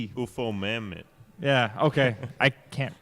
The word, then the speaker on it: Ufomammut: And then Ufomut. What? What? It's UFOMAMMUT. UFO Mammoth.